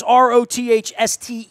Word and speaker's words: Rothstein: That's Rothstein, not like Bruce Springsteen, but pronounced like Bruce Springsteen.